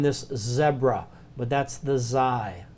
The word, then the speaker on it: Xi: Xi is a real strange one. I always think about it, it's the snake letter. Okay, it's kind of pronounced as our Z, but it's a loop,